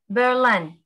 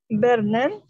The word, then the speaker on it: Berlin: In English Berlin. Berlin.